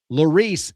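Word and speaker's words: Laris: Lorice is their name. They spell it L A R I S.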